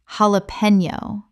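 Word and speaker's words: jalapeño: The J makes an H sound in Spanish, and the N Y makes a knee sound.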